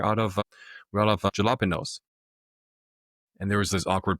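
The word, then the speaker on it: jalapeño: How is that pronounced like an H? Jalapeno. That makes no sense." Of course, I didn't know that was a Spanish word, right?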